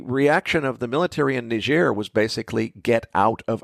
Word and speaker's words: Niger: the backstory here is ner and if you're not sure what I'm talking about the uh West African country that's uranium rich and looks to English speakers like it ought to be pronounced Niger well that's a french-